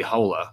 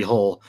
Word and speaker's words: Hole: I think Norwegian the the correct pronunciation of the of the name would put a lilt at the end of the surname so it'd be Harry Halle or in the original Norwegian his name is Harry it'd be something like that but they could have just kept that pronunciation but no that is Americanized so it's Harry hole fumigation after the